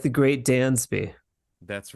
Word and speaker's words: Dansby: it we have Dansby yeah Dansby Dansby yeah like the great more like a z Dan's B yeah so pronounce it more like a z instead okay like the great Dansby that's right as opposed